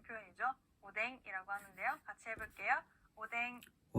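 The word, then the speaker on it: おでん: 오뎅. 네, 좋습니다. 이렇게 이 행들 앞에 왔을 때는요, 니은과 이응의 중간 발음으로 소리가 납니다.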